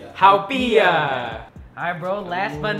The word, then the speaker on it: Haupia: Haupia. Haupia.